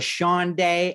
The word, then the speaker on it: Shandai: joined by grace byers aka quinn and shaniqua sean day aka angie in harlem all 10 episodes come